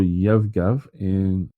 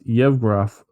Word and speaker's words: Yevgraf: Prince Faisal in Lawrence of Arabia, and General Yevgav Zhivago in Dr. Zhivago. Yeah, we don't have the DJ. How are we going to know how to pronounce things? Yes. So it's Yevgraf Zhivago in Dr.